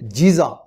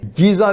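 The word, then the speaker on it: Giza: और ये अहराम मिस्र जैसे मारूफ है कि मिस्र के शहर जीजा, जिसे गीजा भी कहते हैं, क्योंकि मिस्री जो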